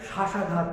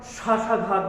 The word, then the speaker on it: শ্বাসাঘাত: শ্বাস, স্বপ্ন, স্বাধীন কিংবা শ্বাসাঘাত যে শব্দটা উচ্চারণ করলাম, ওই শ্বাসাঘাত শব্দেরও তালব্যস্বতে আমরা একটা ঝোঁক দিচ্ছি।